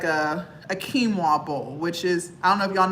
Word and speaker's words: quinoa: before I was vegan it's spelled q i n o a it looks like Canoa if you were to read it it looks like it says Canoa but it's it's a